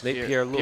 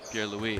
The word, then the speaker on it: Pierre Louis: Pierre Lewis. Pierre Lewis. Pierre Louis. Pierre Louis. I've been saying it wrong the entire season, and I kind of feel bad about it now.